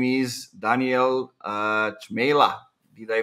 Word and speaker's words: Cmejla: piper and uh his name is daniel uh chamela did i pronounce it right you did yeah one silent